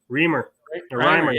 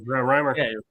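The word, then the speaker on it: Reimer: him back was uh reamer sorry rhymer dreamer damn say his name correctly he deserves a respect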